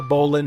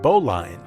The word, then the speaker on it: Bowline: Factory this is the Bolin Hotel it looks like it should be pronounced bowline but in a nod to its nautical history it is named for